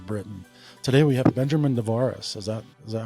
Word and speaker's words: Nevares: Today we have Benjamin Dvaris. Is that is that how I pronounce that correctly?